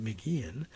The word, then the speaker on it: McGeehan: here's the note here mcgeehan pronounced mcginn started by posting a